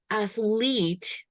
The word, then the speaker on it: athlete: So it's an accent and it's also athlete. I hear a long E, athletic. Yeah, short E.